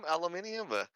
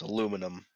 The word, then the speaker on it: aluminum: Yeah, but is it like I guess aluminium? Is it something stronger than that? We're in America, Adam. It's pronounced aluminum.